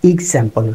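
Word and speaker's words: example: নো, এক্সাম্পলস না, এটা এক্সাম্পল, রসই গয়ের মতো হবে, এক্সাম্পল।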